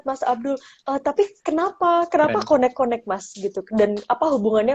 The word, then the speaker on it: Koneqkoneq: Berarti seluruh buku ini adalah terjemahan kitab Barzanji, semuanya dalam bahasa konek-konek gitu ya, konek-konek.